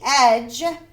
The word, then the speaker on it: edge: The gingerbread man and the fox ran on until they came to the edge. That soft G makes the J sound.